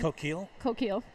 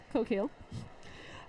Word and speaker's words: Coquille: Coquille. Coquille.